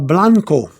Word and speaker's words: blanco: You pronounce blanco for white is blanco. Blahn, blanco, and you have white.